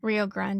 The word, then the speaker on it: Rio Grande: Do you say grand or grande? Rio Grande. I thought it was Rio Grand. Grande. Do you want me to look it up? So, no, no, no. I I'm just asking because we always say grande. Like when you go to Starbucks, you're like, "Oh, grande, whatever."